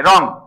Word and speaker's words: রং: উচ্চারণে অলয়েজ কি হবে যেমন রং এটাকে আমরা উচ্চারণ করলে কি হবে রং কি দিয়ে লিখতে হবে দিয়ে লিখতে হবে এ নিচে একটা কি হবে বল বসন্ত হবে রং বুঝাইতে পারছি বুঝছো সবাই